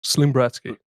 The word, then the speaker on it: ZlimBratSki: Just ZlimBratSki. ZlimBratSki. Yeah. ZlimBratSki. So many people go Bratski. No, just Bratsky. It's like pillow talk, isn't it?